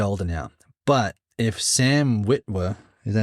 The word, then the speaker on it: Witwer: But if Sam Witwer, is that how you say his name? Yeah, Witwer, the guy that voices Maul, he would need to do the live action, I think.